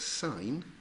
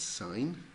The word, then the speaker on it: sine: then we've got three of them we've got sine which was written s I am people pronounce it sin but is that actually we pronounce that sine cosine or cos for short and tangent or